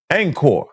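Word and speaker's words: Angkor: Uh uh Anchor that's a city you know it's anchor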